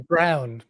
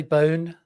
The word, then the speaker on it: Bown: A lot of people call me Brown, but there's no R in my Oh, there's no R. Yeah. So, how do you pronounce it? Oh, that's bound. I could say bone.